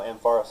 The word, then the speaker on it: Ampharos: I made a trade with someone yesterday for 40,000 for a shiny Ampharos. I probably we butchered that. So We take pics. No, Ampharos is right.